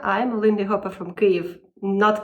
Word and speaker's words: Kyiv: Hello people of the swinging world I’m a lindy hopper from Kyiv (not Kiev, sorry I said it wrong in the previous video).